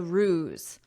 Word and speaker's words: ruse: Now let's continue with our lesson after visitors publicized the ruse. OK, first look at this word, but listen to my pronunciation. Ruse. So notice the sound is AZ ruse.